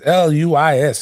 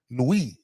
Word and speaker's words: Luis: It's Luis. It's Spanish. I know that. I remember that shit. Luis. You gotta say it like that, right?